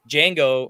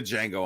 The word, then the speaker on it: Django: Okay, I was gonna say because I'm going to Django on that. The D is silent, motherfucker. It doesn't matter. It's the Django.